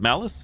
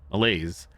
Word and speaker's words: malaise: In addition to his mal uh malise, how do you say the word? Malice, it's not malice. Malaise, his pupils are slow to react, and he has noted visual manifestations.